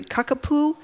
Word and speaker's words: kakapo: So there's a great story from The Guardian about, I hope I pronounced it correctly, Kakapo. Kakapo. Yes, Kakapo.